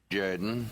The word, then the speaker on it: Jordan: the Auburn Tigers say no no no it's pronounced Jordan yes yes this is sh jayen football coach